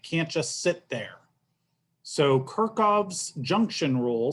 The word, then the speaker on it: Kirchhoff: of weird things but i've always heard this pronounced kirchhoff's rules and um goodness you know back when